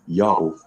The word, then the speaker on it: Yao: The pronunciation is Yao without question, just as Prof. Tabor initially thought, and just as Prof. Charlesworth immediately recognized. This pronunciation is the only one that is ever attested 370 AD, and thus it is consistent with all the other evidence we have. But the divine name was in fact pronounced exactly Yao, no other way, when Biblical Hebrew was still a living language.